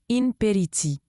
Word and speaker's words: impéritie: Imperity se prononce imperity.